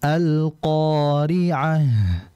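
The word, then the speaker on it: القارعة: membaca dua harakat saja jadi jangan lebih jangan kita bacanya alqi'ah tidak cukup dua saja alqori'ah qo dua saja tidak boleh lebih kemudian berik berikutnya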